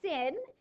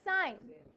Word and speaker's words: sin: so it's not it's actually not from precise pronounced sin it's actually pronounced there no sign sign yeah pronounced sign cos or actually its full name is cosine